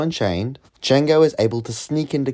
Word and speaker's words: Django: D is silent here, baby.